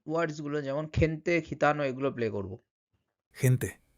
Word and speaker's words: gente: তখন ওর উচ্চারণটা কিন্তু খ, খ, খয়ের মতো উচ্চারণ হয়। ঠিক আছে? যেমন খেনতে, খেনতে, খেতানো, general, gimnasio, আঙ্কেল।